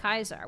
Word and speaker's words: Caesar: They say it like Kaisar.